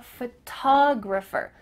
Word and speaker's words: photographer: Do you notice that the first syllable is emphasized here? Photograph compared to I'm a photographer. Ph, that first part is small.